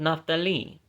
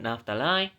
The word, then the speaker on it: Naphtali: Of the sons of Naphtali, I always used to pronounce it Naphtali, apparently it's actually supposed to be Naphtali.